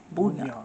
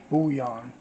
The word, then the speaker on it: bouillon: And I don't want to butcher the name, because I will. Beef Buddha. Bouillon. Say it for me, baby. Bouillon.